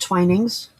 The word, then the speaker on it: Twinings: I can't do that cuz I've got How do you spell the T called That's pronounced Twinings.